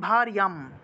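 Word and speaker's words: ভার্যাম্: তারপর দেখুন ভারিয়াম, ভার যা আছে উচ্চারণ হবে ভারিয়া, আর অনুস্বার থাকায় ম উচ্চারণ।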